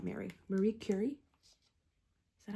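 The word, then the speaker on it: Marie Curie: Marie Cury. Is that how I should be saying it? Awesome. I was looking up how to properly pronounce Marie Curi as in French, but Marie Curi is proper pronunciation.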